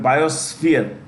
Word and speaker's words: biosphere: When you pronounce this word reserves, sorry, with this word biosphere, the SP is pronounced with an S, F, sphere. We don't say sphere, okay, like biosphere, like F आना चाहिए. F should come in, biosphere.